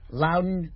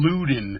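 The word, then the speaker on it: Loudon: wow Eric Anderson yeah Lowden Wayne Wright damn who would hate me because one of my friends my my good friend Kathy always goes you don't call him luden I pronounced his name wrong right I mean really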